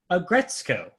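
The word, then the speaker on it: Aggretsuko: Agretsuko. So when there's a S-U-K-O in a Japanese word, you do not pronounce the U.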